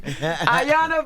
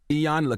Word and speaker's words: Iyanla: Iyanla Vanzant.